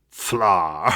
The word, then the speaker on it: Pflarr: It's the expert delve, and before we go too far, I want to say that I could listen to you say "fla" forever, Tom.